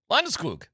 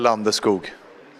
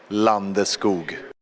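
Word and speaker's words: Landeskog: You're not saying it right. Landoo. No. No. What? There. He does pronunciate the cog. He He does pronounce There's still a cog at the end.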